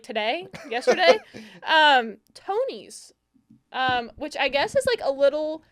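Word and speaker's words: Tonies: For for listeners, it's spelled T O N I S. So, I would say Tony.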